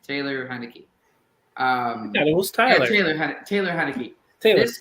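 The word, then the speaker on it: Taylor Heinicke: play a lot better there's a stat here Tyler heinecke I'm gonna look it up but this guy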